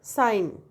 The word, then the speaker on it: sign: G is silent in word sign, but in pronounced is pronounced in word signature.